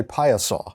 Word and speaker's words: Piasa: service to the community by phonetically spelling it on the billboard out in front of the out in front of your office so now more people know how to say paya saw sure i think i'm